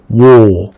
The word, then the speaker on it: war: lui, pour le coup, se prononce war, ok? War, work, war, word, war, world.